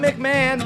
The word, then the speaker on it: McMahon: pronounce that correctly right mcmah right mcmah as long as long as the mick is emphasized right yeah so you